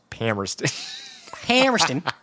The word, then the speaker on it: Palmerston: the way to Palmerston I believe it's pronounced pamrested and picked it up